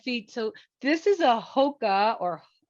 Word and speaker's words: Hoka: So this is a Hoka or Hoka, is that how you say it?